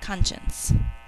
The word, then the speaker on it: conscience: now I can move on to number five conscience we say conscience and we think to swell in two syllables this one's a little tricky we know